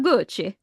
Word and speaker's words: Gucci: And that was You didn't pronounce that right. House of Gucci.